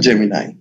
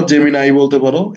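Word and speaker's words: Gemini: এই যে দেখো জেমিনাই, জেমিনি বলতে পারো, জেমিনাই বলতে পারো, একই, দুটোই উচ্চারণ সঠিক।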